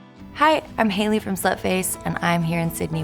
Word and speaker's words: Sløtface: I don't have any problem with people pronouncing it Sløtface or Sløtface. I think it's like, you know, some things work better, especially in English-speaking countries, for different purposes.